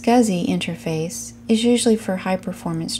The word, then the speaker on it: SCSI: drive to the PC an SCSI pronounced scuzzy interface is usually for